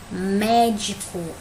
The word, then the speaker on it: médico: vou botar aqui o três médico mesma coisa tem um acento aqui que eu já sei que essa aqui é a sílaba tônica só vou saber onde é que ela tá qual é a última de penúltima antepenúltima então ela é uma proparoxítona vou colocar que o